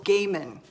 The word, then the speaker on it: Gaiman: scary book by Neil Gaiman Neil Gaiman I had to look up before I did this video on how to pronounce his name I thought it was Neil Gaiman like Neil Diamond like what the heck